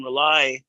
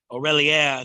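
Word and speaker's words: R'lyeh: of Cthulhu who sleeps in rely Aurelia depending on how you pronounce it um when the Galaxy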